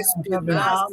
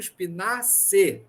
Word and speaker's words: Spinaci: Não, gente, é Spinaci. Não está correto. Agora eu vou fazer bem mesmo Spinaci.